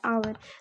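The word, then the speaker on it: hour: ओ एच ओ यू आर आवर। तो यहां पे तो एच साइलेंट है लेकिन शुरू में क्या है?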